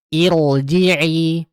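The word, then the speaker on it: ارجعي: Irji'i ya irji'i bukan irji'i tetapi irji'i tebal. Irji'i, irji'i, ir.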